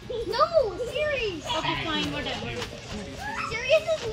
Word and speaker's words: Ceres: Serious. No, Ceres. Okay, fine, whatever. Ceres is not even that. Okay. Whatever you pronounce, yeah, that's right.